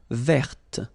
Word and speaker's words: verte: Feminine form, verte. So listen carefully. I don't say te, but it's t. Verte. Verte. Okay, so as usual, this final E only gives you the possibility to pronounce this t.